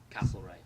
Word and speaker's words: Castlereagh: How do you actually pronounce the name Castlereagh?